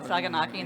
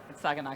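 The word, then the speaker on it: σαγανάκι: corrected me on that I said saganaki they're like it's not icky I asked the Greek person and they told me how to say it so yeah second night and then after that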